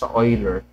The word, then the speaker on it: Euler: approximate slope that's why Ho's method okay EU Oiler oi pronunciation so hin method is a type of